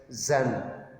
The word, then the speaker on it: Jean: word genius read as xan right their work pronunciation is given on the last page pure and zan so instead of gene you can read it as xan so there are the